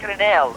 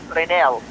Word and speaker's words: Grinnell: All right, so it's pronounced like Renell, right, sir? Like Robert Renell.